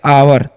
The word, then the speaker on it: our: ठीक है, तो ओ यू का उच्चारण करेंगे हम लोग आव, और आर का र, तो हो गया आवर।